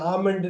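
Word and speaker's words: almond: இது பாருங்க, இது ஆமண்ட் எள்ளு வந்து சைலண்ட்.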